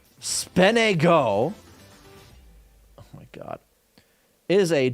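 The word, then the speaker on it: SPNEGO: API negotiation me uh-huh often pronounced speno oh my God is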